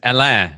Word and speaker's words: Alain: my listeners sure yeah my name is alain it's a-l-a-i-n which isn't spelled the way it sounds in english it's because my mom